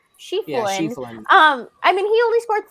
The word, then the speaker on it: Schieffelin: Ian Schieffelin. Yeah, Schieffelin.